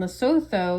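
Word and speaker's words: Lesotho: So, South Africa is the southernmost tip and loto is actually that little circle inside South Africa. It's actually pronounced Loto.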